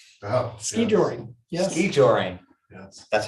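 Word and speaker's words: skijoring: ski joring, yes. that's how you pronounce it.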